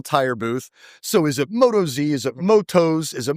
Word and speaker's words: Motoz: with Brian at the Motoz. Motoz. We've been saying it wrong. Right? As it is. Motoz. We get a lot of questions about that. Is it Moto Z? Is it Motoz? Well, I'll tell you what,